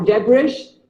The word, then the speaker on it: debris: It is not debris or debris. It is pronounced as debris. Debris. The S is silent.